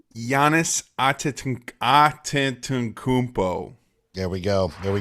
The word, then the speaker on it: Giannis: greek freak how do you say his name giannis there we go there we go you get